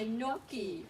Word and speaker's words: gnocchi: There's a bright white gnat nibbling on my gnocchi. Ooh, lots of silent G, huh? Look, silent G, gnome, silent G, gnat, silent G, gnocchi.